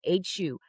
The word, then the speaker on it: HU: Hu. Pronounced like the name Hugh.